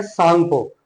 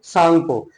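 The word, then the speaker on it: Tsangpo: जी पी ओ बट T silent है यहां पर। तो सांगो रिवर इसको बोला जाता है।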